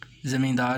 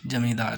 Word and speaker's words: زمیندار: نام سے معروف تھے۔ مشرقی ہندوستان میں ز کا تلفظ جیم سے ہے، اس لیے اخبار نئی دنیا کے دفتر کلکتہ میں کہنے والے نے زمیندار کے بجائے جمیندار کہا۔ آپ کو یہ معلوم